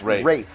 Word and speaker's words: Ralph: And by the way, it's pronounced, I learned this, even though it is definitely spelled Ralph Fiennes, it is pronounced Rafe. Yeah. As in R-A-F-E.